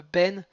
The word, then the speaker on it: בין: Alors, ce qui est important, sur le ben, il ne faut pas le prononcer comme si ça voulait dire fils. Donc on va dire ben, c'est le mot qui veut dire entre tes yeux.